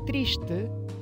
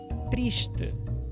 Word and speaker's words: triste: Em Portugal, se diz triste, triste. Então, esse s antigo palataliza e vira sh, e o e final e, triste. Enquanto no Rio, além desse sh aparecer no final da sílaba, nós temos também a palatalização, então triste.